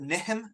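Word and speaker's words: Nihm: different ways um the the maps where it was first discovered on it spell it neem NE M or nehm um Scholars today will more commonly spell it niim ni I hm uh but I've told name of the tribe in in the area niim yeah yeah so it it's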